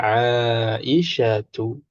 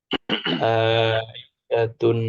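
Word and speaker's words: عائشة: Tapi kalau mau dibaca lengkap, bacanya Aisyatu. Ya, nggak boleh kita bilang Aisyatun, nggak boleh.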